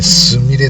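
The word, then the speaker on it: 純恋: 純恋と書いてすみれと読むってはず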